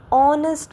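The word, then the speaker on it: honest: ही इज़ एन ऑनेस्ट बॉय। तो देखिए pronunciation मैं कैसे कर रही हूं। ऑनेस्ट इसमें एच तो बोल ही नहीं रही हूं। एच तो साइलेंट है।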